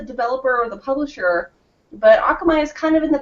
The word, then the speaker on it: Akamai: with Nelson Rodrigues from Akamai is that how you would pronounce that hey say yeah I'll come I that's right yeah I figured it was more like the Japanese pronunciation by the spelling xmi the Hawaiian word